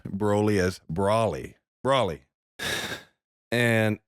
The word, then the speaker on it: Broly: So we went and watched that, and we went and watched how the Japanese pronounce it, and they pronounce it Broly. Brolly, right? Brolly. So there you go. It is Broly.